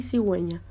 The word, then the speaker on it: cigüeña: Es un signo ortográfico que se pone sobre la vocal U cuando esta letra debe sonar, como en las sílabas hue, wi. Aquí tenemos los ejemplos en pingüino y cigüeña.